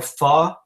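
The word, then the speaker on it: phở: orange juice my go-to food when I'm sick is fo or far um the way that it's it's pronounced um it's basically a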